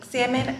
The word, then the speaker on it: salmon: to hear this but the l and salmon is silent okay i'm so glad